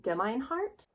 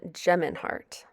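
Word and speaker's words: Gemeinhart: the honest truth by dan demeinhart it's dan geminhart i really should learn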